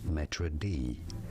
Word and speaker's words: maître d': In French, it is said as maître d, maître d, but in English, it is generally said as maître d, Maître d. d. Maître d, from French maître d or maître d'hôtel.